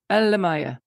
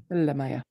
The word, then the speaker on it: Elle-Máijá: Elle-Máijá. Elle-Máijá. Máijá. Yeah, Elle-Máijá. Elle-Máijá.